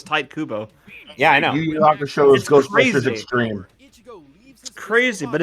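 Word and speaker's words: Tite Kubo: I actually noticed this recently it is actually pronounced type Cuba you're right for the longest time I thought it was no it's tight Kubo yeah I know crazy but it's true about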